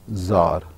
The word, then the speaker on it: czar: दोनों को एक ही तरीके से प्रोनाउंस करेंगे. This is called ज़ार.